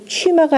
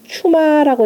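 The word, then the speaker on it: 趣馬: 총재들도 어찌할 방법 없으니까 다 병들었고 그 다음에 거의 취마가 아니라 그 벼슬 이름으로 읽을 땐 추마라고 읽으세요. 추마.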